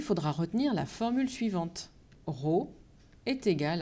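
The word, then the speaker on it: rho: désigne cette grandeur par une lettre grecque que l'on prononce raw et pour la calculer il faudra retenir la formule suivante raw est égal à m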